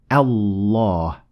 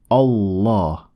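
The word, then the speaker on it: الله: The first alif is lightly pronounced, as in the word at, so it is not a full mouth ah, but a.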